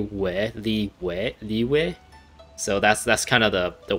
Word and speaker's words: Liyue: They seem to pronounce Liyue instead of like Yue sound. It's like a W, Liyue.